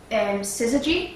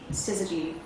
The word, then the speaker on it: Syzygy: See, the origin name with like Atari was originally called, I can't actually pronounce this, Syzygy.